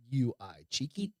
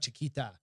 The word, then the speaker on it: Chiqui: Cheeky. QU? Cheeky. It's not Chiquita. Chiquito would be small, but so it's like Chiqui? Chiquit or Okay.